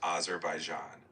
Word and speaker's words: Azerbaijan: We are going to learn about Azerbaijan. Am I saying that right, Bruce? You're quite close. It's pronounced Azerbaijan.